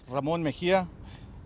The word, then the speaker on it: Ramon Mejia: My name is Ramon Mejia.